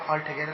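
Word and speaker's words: altogether: जब हम इसे कंबाइन करते हैं तो एल जो होता है ये क्या हो जाएगा? हट जाता है, ये साइलेंट हो जाता है, मतलब कि वहाँ से हट जाएगा।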